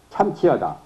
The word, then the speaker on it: 참치하다: 동경이 따라 이루기 때문에 승강이 참치하며 오르고 내리는 것이 참치하다. 발음은 치 그래요. 참차가 참자가 아니라 참 참치하다.